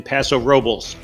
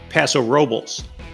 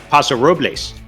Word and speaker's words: Paso Robles: picks for three great wineries to visit in paso robles but before we go your bonus tip notice i've been pronouncing it paso robles you kind of expect to pronounce it like